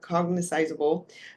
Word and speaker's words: cognizable: be what they call cogniz Cog I'm saying it slow I'm saying it wrong here cognizable which means you have